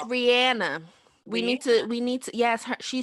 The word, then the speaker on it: Rihanna: Same as Rihanna. Like, I don't know how Rihanna chooses the people she dates. She's been in the Princess. I know that's your girl. It's Rihanna.